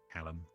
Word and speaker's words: Callum: Callum. Might go find him. Apparently we've been saying it wrong this whole time. It's not Caleb, it's Callum.